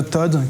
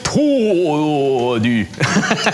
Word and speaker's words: ToD: Fnatic Todu. Voilà. C'est dur parce qu'il n'y a qu'une seule syllabe en fait.